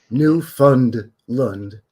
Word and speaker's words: Newfoundland: We pronounce it Newfoundland. Newfoundland.